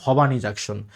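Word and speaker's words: Bhowani Junction: যদি উচ্চারণ লেখা আছে কি ভবানী জাংশন, উচ্চারণ হচ্ছে ভবানী জাংশন।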